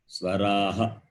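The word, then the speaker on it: स्वराः: S-V-A-R-A-H. Swaraha. You have to read like that. Swaraha. The H is Swaraha. Ha sound.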